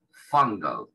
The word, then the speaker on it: fungal: Fungal, fungal. Esa U se pronuncia parecida a una A nuestra. No igual, pero parecida.